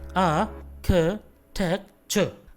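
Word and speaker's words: architecture: इसका सही प्रोनाउंसिएशन होगा आर्किटेक्चर, आर्किटेक्चर। So there is नो AR and there is नो चर, आर्किटेक्चर, आर्किटेक्चर।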